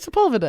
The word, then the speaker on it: Sepulveda: Sepulveda.